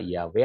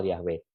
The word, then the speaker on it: Yahweh: jadi dengan demikian saudaraku Jangan sampai kita terpaku bahwa ini harus dilafal Yahweh tapi ketika ada orang menanyakan manakah pelafalan yang benar tentu kita harus yakin